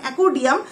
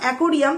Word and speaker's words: একুরিয়াম: এখন প্রথম কথা বলছিল মানে একুডিয়াম তোমার উচ্চারণটাও ভুল ওটা তো একুরিয়াম তারপর ও একুডিয়াম বলছিল